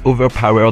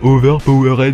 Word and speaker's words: Overpower: On dit bien Overpower des Fers et pas Overpowered des Fers.